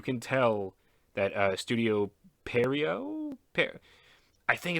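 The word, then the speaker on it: Pierrot: tell that uh Studio perio pair I think it's pronounced perio it's got a t at the end it might be French I know the Japanese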